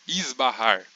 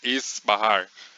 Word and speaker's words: esbarrar: português na palavra esbarrar Por exemplo quando a gente faz esse S por ele estar antes do b a gente pronuncia ele como um z esbarrar não esses barrar essa pronúncia até existe só que é muito menos comum É nesse caso a